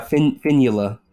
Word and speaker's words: Fionnuala: Are you telling me that's actually pronounced as it is written? Yeah, Fionnuala. I mean, the O is silent, but yeah.